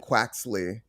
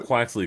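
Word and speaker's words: Quaxly: I'm already pronouncing them wrong. So it's Sprigatito, Foy Coco, and Quaxley. So, my friends, I think you got Quaxley correct.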